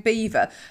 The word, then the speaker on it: Belvoir: We're thinking about doing Beaver again tomorrow. Yeah. And for anybody that's actually listening, Beaver is spelt B-E-A-V-E-R. Belvoir. So Belvoir.